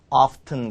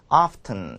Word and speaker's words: often: 오케이 요것도 발음이 often 이렇게만 발음하는 게 아니라 often 그래서 미국식 쪽은 영국식 쪽에서는 또 이 T 사운드를 살리기 때문에 often 이런 식으로 해서 T 사운드를 살려서 발음하기도 하죠.